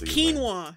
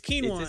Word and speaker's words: quinoa: No, it's quinoa. It's quinoa. That's how you pronounce it.